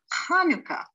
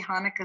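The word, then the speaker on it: חנוכה: a hat with is hanukkah and so sometimes you'll see hanukkah spelled with the ch and sometimes if you can't really say the ha you'll see it with the h hanukkah now when head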